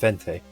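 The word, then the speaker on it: veinte: So, you know, the number 20 is Bente, which is a V. It's not a B, but it's pronounced Bente.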